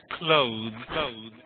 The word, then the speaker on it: clothes: So clothes, the E is a bit silent and weak.